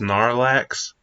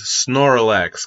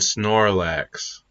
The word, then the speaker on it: Snorlax: you say I mispronounced Snorlax I'm being real I probably I thought it was snor relax cuz he's a sleeper so he snores and relaxes snor relax I need to say